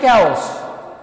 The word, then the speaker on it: chaos: Okay, and इसका pronunciation होता है chaos।